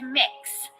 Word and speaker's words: Mix: name is mix k it's mix so kind of like cookie mix or mixing bowl that sort of thing that's how it's pronounced that is my name